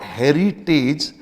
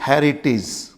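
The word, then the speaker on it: heritage: E pronounced as एज बट in most of the words this as is pronounce as जज for example it इज नॉट हेरिटेज इट इज हेरिटेज इट इज हेरिटेज इट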